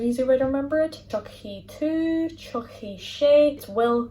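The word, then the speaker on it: tiocfaidh: Tar, to come, changes to Chucky. It sounds like the doll, Chucky. So that's an easy way to remember it. Chucky to, Chucky she, it will come.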